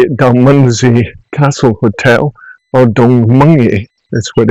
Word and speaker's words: Dalmunzie: This is me at Dalmunzie Castle Hotel, or Dalmunzie, is what it's pronounced correctly. A lot of people call it Dalmunzie, but its correct pronunciation is Dalmunzie.